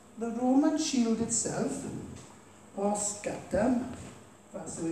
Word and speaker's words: scutum: Now, the Roman shield itself, or scutum, that's the way it's pronounced, was a central part of the soldier's defense.